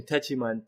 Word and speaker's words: Techiman: You can type in Techiman, T as in Tom, E as in Echo, C as in Charlie, Himan. It's worded just like it's pronounced, Techiman.